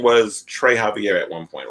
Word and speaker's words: Xavier: i'm using now is the last name is the spanish pronunciation of that of that name and was there an